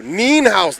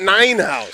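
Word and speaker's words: Nienhaus: making sure i know neen house not nine house somebody told me nine house i wasn't sorry i said you say it like a german nina all right from now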